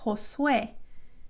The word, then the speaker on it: Josué: The letter J is pronounced like an H in English. So jaula, the word for cage is jaula, jaula. My son's name is Josué, Josué, which is Joshua in